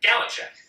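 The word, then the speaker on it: galuchat: So you'd think because it's a French person's name, it would have a French pronunciation, but every pronunciation that I found was an American going, Gallichat. All right, fine. Great. Sounds good.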